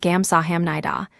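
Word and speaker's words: 감사합니다: The second is gamsah nida meaning thank you. A small pronunciation note it is spelled with what looks like hamida but the letters shift slightly in speech and it comes out gamsah naida.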